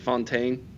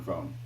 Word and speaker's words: Fountain: Is it Fontaine? Yeah, Cameron Fountain.